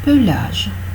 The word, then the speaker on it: pelage: Donc dans ces cas-là, on prononce obligatoirement le E pour que ce soit bien clair qu'on parle de pelage et non pas de plage.